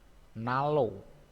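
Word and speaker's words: 난로: Ini nan ro. Nan ro dibacanya nalo.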